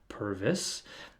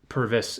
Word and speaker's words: Purves: my last name but the way it is actually pronounced is pervis uh I have responded